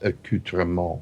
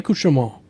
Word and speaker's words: accoutrement: but you will father myself demos that is pronounced accoutrement i did say akusho no you didn't you said it at first